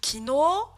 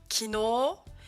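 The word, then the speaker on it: きのう: Il y a également ici kino, kino. Et je vous ai également mis byoin, et pas byoin. Byoin. Donc je répète, Ohayo, kino, byoin, byoin. Ces 3 mots seront allongés avec un U.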